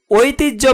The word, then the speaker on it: ঐতিহ্য: সহ্য বানানে হ এর সাথে জপলা যুক্ত হওয়ায় উচ্চারণে বর্গীয় জয়ে হস এবং জ লিখেছি। ঐতিহ্য বানানে হ এর সাথে জপলা যুক্ত হওয়ায় উচ্চারণে বর্গীয় জয়ে হস জ লিখেছি।